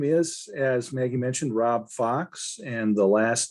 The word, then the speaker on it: Faux: as maggie mentioned rob fox and the last name is spelled f-a-u-x if you know french you know that it could be pronounced as faux which means fake which